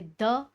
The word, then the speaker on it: the: Definite article जो specific चीज़ों के लिए यूज़ होते हैं, जो आर्टिकल है द, जिसका प्रोनाउंसिएशन होता है दी ना, जब वो वावल्स के पहले आता है।